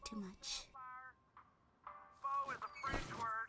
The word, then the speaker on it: faux: Faux is a French word. It's got an X in it, but you don't even pronounce the X.